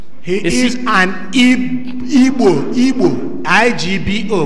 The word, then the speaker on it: Igbo: He is an Igbo Igbo, I G B O. We call it Igbo, but the English pronunciation says I B O.